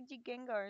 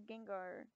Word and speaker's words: Gengar: He would say Jigengar instead of Gengar.